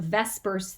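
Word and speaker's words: VSEPR: do with what we call a vespers theory that's how we uh pronounce that that stands for valence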